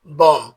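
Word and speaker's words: bomb: নাম যার অর্থ অবস বি ও এমবি এর উচ্চারণ বম হবে না এর উচ্চারণ হবে বম।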